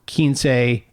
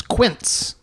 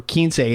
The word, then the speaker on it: Quince: Kinsey, for those who don't speak/read Spanish, you might misunderstand it as Quince. Quince. A lot of people mispronounce it. So if you're going looking for Kinsey and you see Quince,